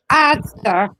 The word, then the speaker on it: Asda: Asda.